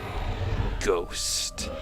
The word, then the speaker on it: ghost: Ghost. That's a nice word. I like the way ghost is spelled. I like a lot of words that have H's in, like silent H's, like rhythm, ghost.